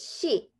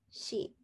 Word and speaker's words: 씨: It's 씨, 쌍시옷, and 이, 씨.